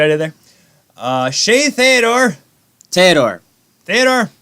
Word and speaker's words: Theodore: Theodore. It's Theodore.